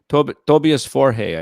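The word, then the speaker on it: Tobias Forge: I'd never heard his name pronounced. Tobias Forhe, I think, is how they actually pronounce his name up in Stockholm.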